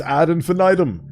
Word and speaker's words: ad infinitum: Like the word infinitum because that's not even how you pronounce it. I think it's ad infinitum. But then again, that's that's a weird modern pronunciation. I'm pretty sure infinitum comes from dead Latin.